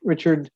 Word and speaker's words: Richard: yes my name is Richard uh it's like uh Richard but pronounced French but Richard Works uh I'm a